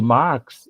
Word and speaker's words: Marx: Só que a pronúncia de Marx, ela é muito parecida com o nome Max, com M-A-X.